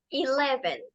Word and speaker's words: Eleven: número 11 este número que se escribe Eleven se pronuncia Eleven Eleven la e se pronuncia como una e larga que suena como I y las otras dos e suenan como una e corta que suena como e entonces Eleven Eleven Okay entonces por favor